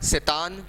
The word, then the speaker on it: Tsetan: उनका ड्राइवर जो था सेतान, that is TSETAN, T is silent.